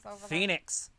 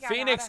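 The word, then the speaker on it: Fénix: whatever his name is phoenix phoenix but it's not spelled like uh the city it's fi like phoenix like phoenix like fen x yep phoenix that's funny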